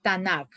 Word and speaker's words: Tanaj: Pues hace una unión de las iniciales, como han visto, la T, la N y la K, y a eso le ponen la A para poderla nosotros pronunciar. Se llama Tanaj.